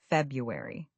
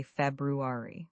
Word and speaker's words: February: This is a tough one because of that first R. Many people say February which is actually acceptable but the traditional pronunciation is February. You need to pronounce both R sounds.